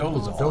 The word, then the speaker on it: Dolezal: On Friday, NAACP officials stood by Miss, how do you pronounce it again? Dolezal. Dolezal, thank you.